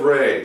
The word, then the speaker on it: Ra: That's because it's not raw, like R-A-W, raw, raw, raw. It's Ray. It's actually Khafre. All these different kings, their names are pronounced with and if they include the suffix it's referential to the sun, then it's Ray, like a ray of sunshine.